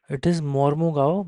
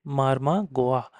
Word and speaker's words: Mormugao: Okay, I know it's Mormugao, but I deliberately pronounce it as Marma Goa, so that I can remember it is in Goa.